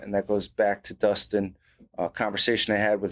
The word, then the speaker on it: Dustin: this podcast i had former nc state wrestler justin uh you say justin or dustin dustin man i was so worried about the last